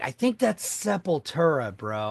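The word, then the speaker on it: Sepultura: So, I was like, I think that's seepura, bro. I think that's how you say it.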